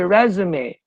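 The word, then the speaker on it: résumé: a vowel I'm sorry if s comes after a vowel you need to pronounce it as Z so that should be resume resum okay res resume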